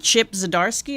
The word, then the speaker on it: Zdarsky: Chip Zdarsky, is that how you Yep, pronounce that's his name?